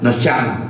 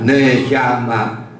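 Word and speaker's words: נשמה: Seperti yang tadi sudah saya katakan, kalau E-nya dinaikkan ke atas begitu, itu bacanya E-nya itu singkat sekali ya, neshama itu ya. Jangan neshama, E-nya pokoknya singkat sekali.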